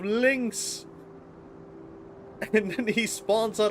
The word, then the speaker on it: Lynx: All I did was say Nyx instead of Lynx.